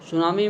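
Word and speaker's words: tsunami: उत्तर किया जाएगा Japan सुनामी में टीम लिखा जाता है लेकिन टीम साइलेंट होता है में विश्व का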